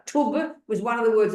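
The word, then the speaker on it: Thub: t h u b it's an aspirated t t it's not th it's t tub was one of the words of the Buddha and then ten means teachings tub 10 I got that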